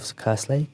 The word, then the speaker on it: Kerslake: Yeah, I think Steve was saying, Steve Kerslake, I suppose, is that how you pronounce it? Kerslake, yeah.